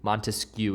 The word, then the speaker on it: Montesquieu: is baron de montesquieu montesquieu is how you say his last name i usually will just